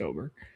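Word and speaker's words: Åberg: It's Oberg. Not the great with pronunciations, but I'll give that one too, since it's technically a different language.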